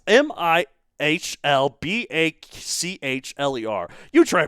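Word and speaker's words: Mihlbachler: it was deduced by a paper by paleontologist Mythbachler. Oh, you really butchered that name, worse than I butcher the goose in Michelin star restaurant.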